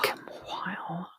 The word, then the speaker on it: umquhile: So in Scotland, they would say it umquhile, and that QUH actually shows up in a lot of Scottish words and always signifies a very breathy hua sound.